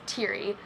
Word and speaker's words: Teary: you don't know me I am teary that's how you say my name by the lot by the way is teary I'm 21 years old